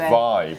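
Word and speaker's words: WIBE: y-b-duo but apparently this the w is silent and it's a v so it's vibe i think we should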